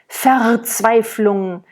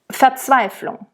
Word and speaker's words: Verzweiflung: I just want to point out that the rules about the R's at the end of words and at the end of syllables, like ver is a syllable that happens a lot in German, ver. When we speak, we never roll it, okay?